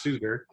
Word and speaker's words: Suter: She helped me correct the spelling, the pronunciation. It's Suter.